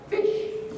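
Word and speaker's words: ghoti: that William said since the GH in enough and tough makes an F sound the O in women makes a short I sound and as mentioned before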